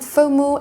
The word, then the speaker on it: FOMO: la peur de manquer vous devait prononcer les lettres comme c'était un mot pour mot et pas prononcé les lettres une par une ce terme faux mot est utilisé depuis 2004